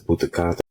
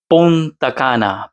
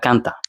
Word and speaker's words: Punta Cana: And for your information, it's Punta Cana. Punta Cana, Punta Cana, okay? C A N A, not Kanta. I'm not trying to put him down, just saying Punta Cana, that's how you pronounce it properly.